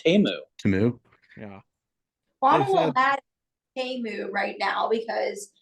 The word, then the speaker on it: Temu: Well, the big thing was, did you guys see it's not pronounced Timu, it's pronounced Temu.